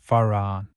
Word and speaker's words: Fa-Ra-On: The complete mantra Fa-Ra-On is divided into 3 syllables as follows: Fa-Ra-On. The Fa is that of the musical scale. The Ra is a deep sound. It must be vocalized with a rolling R.